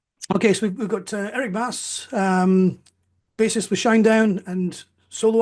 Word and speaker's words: Bass: It's pronounced Bass, isn't it?